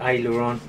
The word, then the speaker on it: aileron: The farthest one away is the aileron. That's how you pronounce it.